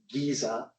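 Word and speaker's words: GISA: traditional by the way we named our measure Giza because we wanted to rhyme with Pisa integrated scenario based assessment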